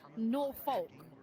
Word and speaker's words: Norfolk: It's pronounced s. It is s. It's like Norfolk as well. Norolk. Norfolk.